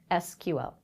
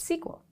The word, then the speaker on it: SQL: the world such as Oracle say explicitly in their documentation that the language is pronounced sequel others such as MySQL